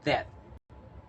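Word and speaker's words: debt: see the pronunciation receipt repeat after me receipt and in receipt we don't pronounce the letter b the second is mortgage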